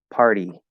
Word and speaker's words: party: later water better okay where we do party now you have to go to e and not only that but you're going from r so now instead of going here to er you're going from er forward into e so you have to tap and push tap and push party party so i'm going up with my tongue tapping and then pushing forward into the earth so